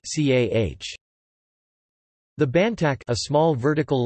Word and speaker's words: ចា៎ះ: The word, yes, used by women is pronounced CAH.